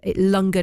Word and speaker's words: langar: a r ww K so lunger is spelled l a n g a r and as she mentioned